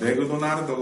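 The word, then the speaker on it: マクドナルド: 맥도날드인데 일본 사람들은 이렇게 발음을 못합니다. 뭐가 발음이 안 돼요? 얘가 발음이 안 됩니다. 어떻게 읽을까요? 그냥 따로 독립해서 읽어요. 을을 붙여줍니다. 그러면 발음하면요. 맥도나르드가 되죠. 맥도나르드. 정확히는 맥도나르도라고 읽는데. 그래서 발음이 달라요, 완전히.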